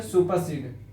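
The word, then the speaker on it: supersede: सुपर सड सुपर सड इसका प्रोनंसिएशन सुपर सड सुपर सीड आर को स्लाइटली प्रोनाउंस करेंगे काक आर के पहले भवेल है ई सुपर सड सुपर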